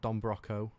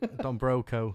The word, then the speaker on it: Don Broco: um a lot of don bronco so i think are you pronounce it so weird don broco sorry yeah i'm wearing the